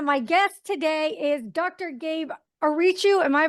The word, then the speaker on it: Gabe Ariciu: name is Chen my guest today is Dr Gabe aru am I pronouncing that right you got it yay welcome